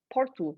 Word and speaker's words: Porto: for example if there's a word and it ends in "o" in portuguese then you have to pronounce it as a "u" and like for example "PortU" (city of Porto) so instead of "PortO" so for me in